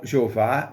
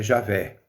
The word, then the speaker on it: Javé: transformaram-se javé em jeová então jeová não é o texto original é o nome original isto é uma composição que foi feita na tentativa de não pronunciar o nome de deus mas o texto correto para entendermos é javé o tetragrama que deus